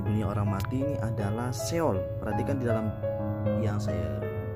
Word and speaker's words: Sheol: Pelafalannya Sheol ya.